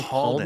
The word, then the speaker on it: Palden: I say Palden. Palden, which is somewhere between. My mother gets on my case about pronouncing it incorrectly because it's actually a Tibetan name, and so she says it's Ma Pa Palden.